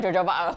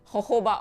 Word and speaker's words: jojoba: It's not jojoba oil. I had to watch Tori's live and be like, oh, it wasn't pronounced jojoba oil. Jojoba oil.